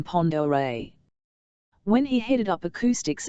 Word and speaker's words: Pend Oreille: Pitt noticed he pronounced the lake's name Pond Oreille.